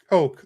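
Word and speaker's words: Koch: Um, oh, so Deuce says I believe it's pronounced uh Coke like the soda. Okay, it's spelled K O C H.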